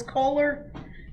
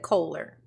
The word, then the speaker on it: Kohler: I also noticed this she just pronounced his name she just said Kohler Now watch how many times this fool act like he don't know how to pronounce it she just said it Kohler right I expect you